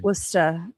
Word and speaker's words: Worcester: You guys are Wosta. It's spelled Worcestershire.